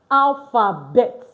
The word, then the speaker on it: alphabet: So just one rule you should know that most times the consonant at the end of a word in French is not pronounced. T is a consonant, S is a consonant. We do not pronounce it in French. So that explains why it is alphabet and not alphabet.